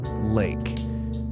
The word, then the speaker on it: lake: Listen to that word. Do you hear the silent E at the end? Do you hear the long A sound right in the middle?